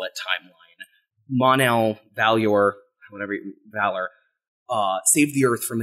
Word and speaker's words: Valor: And I actually don't know how that is pronounced. I pronounced it Valyor, but it is... I think it's Valor. Like the word.